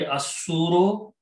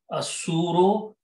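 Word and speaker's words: الصور: Al means da, and pronunciation will be asuro, lam is silent, asuro, and fi means in.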